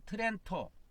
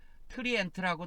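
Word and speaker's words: Trento: 18년 동안입니다 입니다 트어 트렌토 트렌토 하는데요 트렌토 합니다 트렌토 이탈리아인데 트리엔트 하고 트렌토 하는데이 트렌토 하는 거는 이탈리아 발음입니다 그 트렌토 공의회를 열어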